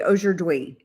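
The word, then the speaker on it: aujourd'hui: How do you say today? Oer dwi.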